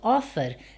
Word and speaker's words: offer: Porém, a sílaba tônica cai no O e não no FER. Então, neste caso, offer não é uma CVC tônica.